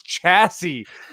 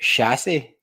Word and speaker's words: chassis: They're like, "It's chassis," and I was like, "I didn't know the word. Like, I've seen it written, but I've never said it." Although we pronounce it chassis. Chassis. Like, okay. Chassis. That's a chassis.